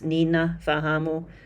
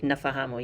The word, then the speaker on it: nafahamu: So again, with the prefix nina fahamu, normally people are just going to say nafahamu. You leave out that first ni.